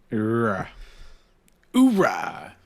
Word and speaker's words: Uhura: refinery is fantastic um how do you how do you pronounce uhuro's name or her you change your pronunciations though Ura uh Ura it's pronounced Uhura you don't need to